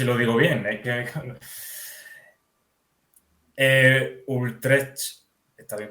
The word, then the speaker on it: Utrecht: Utrecht... ¿Está bien pronunciado?